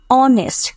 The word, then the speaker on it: honest: কিন্তু এটার উচ্চারণ হবে honest, not honest, এটা হবে honest, HONEST হয়েছে, মানে আমাদের স্পেলিংটা হচ্ছে গিয়ে HONEST, বাট আমাদের উচ্চারণটা হবে অনেস্ট।